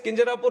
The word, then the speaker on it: Kinjarapu: And my name is Kinjarapu Ram Mohan Naidu. And when some people say Kinjarapu, there might be some problem with them. They can't pronounce it the way I pronounce it.